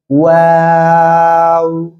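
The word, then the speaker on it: و: চলুন এখন আমরা দেখেন যে অক্ষরটা শিখতেছি এখন, সে অক্ষরটা হলো এই যে অক্ষরটা দেখেন, দুই ঠোঁট গোল করেন আমার মতো, গোল করেন গোল করেন, ওয়াও, আবারও ওয়াও।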